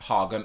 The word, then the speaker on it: Haugen: Like Hagen, it's spelt like the start of Haagen-Dazs, so I'm pronouncing it Frances Haugen.